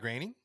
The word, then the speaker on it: Groening: I always say his name wrong. How do you say his name? Matt Groening?